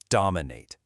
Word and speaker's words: dominate: Now, let's look at a really energetic verb, dominate. Listen to the stress on the first syllable, dominate.